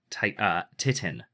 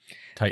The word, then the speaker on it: titin: Titin. Titan. It's the what? Titan. Titin. Titan. You're wrong. It's not got an A. It's got an I. Anyway, I know. it's titin, the largest protein.